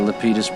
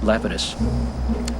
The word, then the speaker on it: Lapidus: this yahoo hey lepidus they pronounce it uh lepidus but i think the correct greek uh is uh lapidus i i just ask